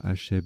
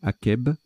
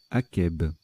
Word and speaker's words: akeb: je me suis planté, on ne dit pas Acheb mais Akeb. Au Sahara, végétation qui pousse après une averse. Akeb.